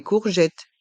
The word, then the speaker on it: courgette: des courgettes une courgette ici il y a le son ou et le son le O et le U font le son ou le E de T font le son et le s est aussi mué courgette des courgettes une courgette